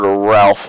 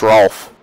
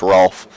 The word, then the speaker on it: Rolf: So let's hop over to Ralph. I'm probably saying his name wrong. Admit it's Rolf. I guess you can pronounce it Ralph though, but I think it's actually pronounced Rolf.